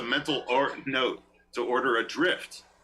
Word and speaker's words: Dryft: He takes a bite of his piping hot avocado and makes a mental note to order a drift. Drift, spelled like DRYFT.